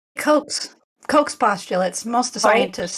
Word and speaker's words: Koch's: never say it right, coaches' postulates. And I wrote down Dr. Andrew Kaufman. That's the only one that I know right offhand. But anyway. Just say Koch's postulates.